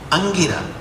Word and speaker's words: अंगिरा: से ऋषि थे, कौन, अंगिरा, अंगिरा नहीं, अंगिरा, छोटी ई की मात्रा प्रोनाउंसिएट करो, बड़ी ई की मात्रा प्रोनाउंस अंगिरा हो जाएगा।